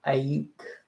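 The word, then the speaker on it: Aiyuk: from he's a quarterback for the Saints Brandon ayek that's how you would say his name Brandon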